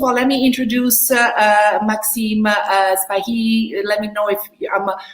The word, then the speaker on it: Sbaihi: First of all, let me introduce Maxim Sbaihi. Let me know if I'm pronouncing your last name correctly.